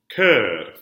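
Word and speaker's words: chœur: You have two different words. One means heart. One means choir. They're pronounced the same. What do we call that? A homophone. Yes, so the words sound the same.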